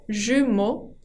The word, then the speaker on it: jumeaux: Ahora, si quiero hablar de mellizos o de gemelos, se dicen les jumeaux, con la X final que no se pronuncia, jumeaux.